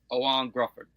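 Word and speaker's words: Ioan Gruffudd: Because because I I can't pronounce his name. I think Owan Gruffford.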